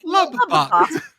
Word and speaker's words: Lubbock: Why do you say Lubbock like that? Lubbock. I love the way that you treat each bee separately. It's Lubbock.